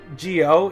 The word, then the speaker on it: Zi-O: z ax e but Gio is pronounced with a J so I'm presuming that